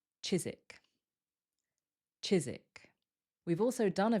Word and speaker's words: Chiswick: Remember, we remove that W, so it sounds like Chiswick.